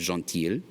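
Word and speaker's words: gentil: notice with this one it changes the pronunciation the masculine form is John teal the feminine form becomes donkey yeah that il le makes the year sound Jean Tia and lastly some additives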